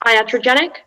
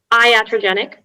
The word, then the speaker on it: iatrogenic: the information please yes so it can be pronounced iatrogenic iatrogenic or iatrogenic uh it's an adjective